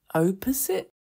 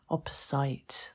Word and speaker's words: opposite: in fact, I've got a few students who mispronounce this word. O-P-P-O-S-I-T-E. Do they say opposite? They say opposite. Okay, the opposite at the end. Opposite. That's difficult. Opposite.